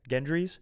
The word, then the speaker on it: Gendry: I think gendry's role gendry's again role so is a soft G yeah who is a